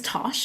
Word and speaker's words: Tosh: As you mentioned, my name is Tosh. It rhymes with posh.